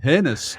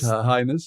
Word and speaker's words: highness: Royal Highness you know oh I know you mean you mean hinness okay oh yeah yeah that's good but in highness is like you know it's the correct pronunciation hi you know but uh